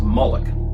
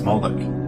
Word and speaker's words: Moloch: The MLK is vocalized as Moloch, or Moloch, in the Masoretic texts, which is an authoritative text in Rabbinic Judaism.